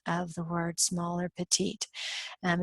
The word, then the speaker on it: petit: the word small or petite. And in English, we don't pronounce it the French way, we just pronounce it petit.